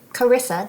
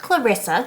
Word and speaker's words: Carissa: Carissa, not Clarissa.